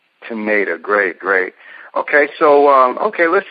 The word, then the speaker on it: Tanita: And how do you spell that again? Is it with a C or a T? T. It's Tanita. Teneta. Teneta.